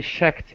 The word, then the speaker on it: checked: was so high she checked each direction looking at the buildings below all right now i'm remembering the ch sound your achilles heel all right so checked she checked okay okay